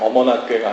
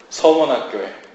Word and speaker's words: 서머나교회: 발음을 잘하세요. 어머나교회가 아니고 서머나교회. 네, 서머나교회입니다.